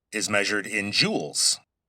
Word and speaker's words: joule: Now, e is measured in joules. Let me spell that because it sounds like j e w e l s. But, it's based on an old scientist's name, and so, his name was joule, j o u l e.